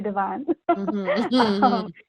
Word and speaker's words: Devon: chicago and i think you you all would you all would pronounce it as devin but we say divine so we go to